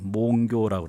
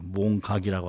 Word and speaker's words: 몽교: 교라는 건 깨달을 각자인데 다른 사물을 알았을 때는 깨달는다 각 그렇게 발음을 하고 꿈에서 깼을 때는 꿈깰 교 그렇게 발음을 해요. 몽교라고 그래요. 몽각이라고 안 하고.